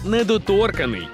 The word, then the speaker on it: недоторканий: цінуєте власні кордони то ви недоторканий із наголосом на о та однією буквою н недоторканий недоторканий чи недоторканний